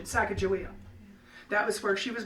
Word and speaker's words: Sacagawea: And joined up with the Lewis and Clark party because of her husband Charbonneau, and that was with the Mandan tribe, and they pronounced it Sacagawea.